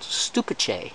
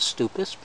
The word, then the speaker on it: Stupice: Somebody who looked at my previous videos said it's called stupice, not stupus, and that it's a Czech word.